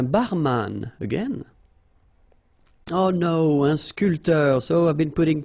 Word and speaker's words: sculpteur: This P here is not pronounced. So sculpteur, un sculpteur.